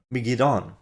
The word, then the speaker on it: Megiddon: The rest of the term is assumed to be Megiddo or Megiddon. The pronunciation of the D-O-N is actually do. The N is silent. So according to Strong's pronunciation guide, the transliteration is Har Megiddo.